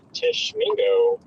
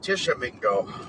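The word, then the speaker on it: Tishomingo: I guess we do have a tiny little area of rotation near Tishmingo. That is uh Tishamingo. Oh, Tishamingo. Gotcha. That's how you pronounce it.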